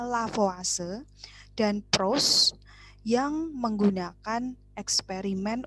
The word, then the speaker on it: Lavoisier: kemudian ada seorang bernama lavoisier atau bahasa bacanya lavase dan proses yang menggunakan